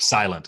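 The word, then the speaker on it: Sairento: of mentioned a sir how do you say this say rento cyrento whatever you're like silent it's supposed to sound like silent okay well that's may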